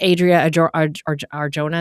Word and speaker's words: Adria Arjona: I think Adria Arjona is how you say her name.